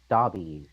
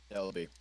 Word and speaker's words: Delby: We're gonna find out later that her name's Dobby, right? That's how it's pronounced. Delby. W. Delby? Mm-hmm. Yes, Delby.